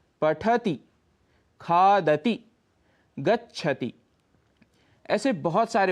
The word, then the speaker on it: पठति: करते हुए बोलना है जैसे पठति शब्द में ठ पर यदि आप हल्का सा रुकेंगे तभी आप त में ह्रस्व ई बोल पाएंगे पठति खाद गच्छति ऐसे बहुत